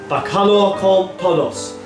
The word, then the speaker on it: Bacalhau com todos: So, today's dish is pronounced Bacalhau con todos.